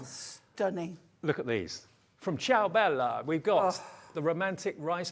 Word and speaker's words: Ciao Bella: And it's a big name in the craft world, and it's Ciao Bella. Ciao Bella. Ciao Bella. You've got to say it like that.